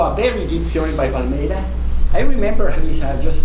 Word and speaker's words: Palmeira: And so he was talking of this Irish Paul O'Meara. It's Palmeira, but he pronounced it like Paul O'Meara. It sounded Irish to me, but no, it's actually Palmeira.